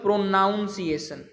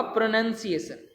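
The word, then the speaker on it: pronunciation: word हमारा प्रोनंसिएशन है इसको लिखते हैं हम लोग प्रोनाउंस एशन जो कि गलत है इसका होगा प्रोनंसिएशन ठीक है जी ये एन ओ यू एन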